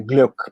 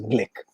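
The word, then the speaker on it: Glück: from central europe so in german one would say gluck but as the americans tend to trans transform all these names on impact uh she herself pronounces the surname as blick so i'll stay with that when i speak of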